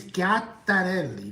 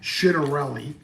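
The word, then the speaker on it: Ciattarelli: His name is Gatarelli, not Chitterelli. His name is Gatarelli. Gatarelli. So he says Citelli. It's not Cerelli. Gatarelli. That's how you say it in Italian, right?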